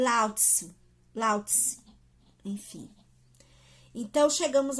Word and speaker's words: Lao Tzu: Eu já ouvi, não pronuncia o U, é um Ezinho mesmo. Lao Tzu.